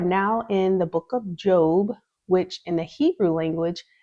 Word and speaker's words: Job: eov is job and some people say job because it's spelled like job but um but the Biblical term is job and the Hebrew term